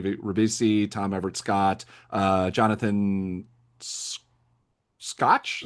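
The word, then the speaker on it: Schaech: cast that Liv Tyler, Charlize Theron, Giovanni Ribisi, Tom Everett Scott, Jonathan Scotch, Scatch. I forget how to pronounce it. I don't know how to pronounce his name. Shaq.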